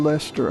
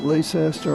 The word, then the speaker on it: Leicester: So anyway, we're on Highway 63, the new Leicester Highway. That's L-E-I-C-E-S-T-E-R. Most people pronounce it Leicester or Leicester, but it's Leicester, like in England.